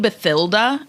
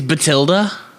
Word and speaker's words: Bathilda: Did you know I've been saying Bethilda? And apparently that is incorrect. It's Batilda.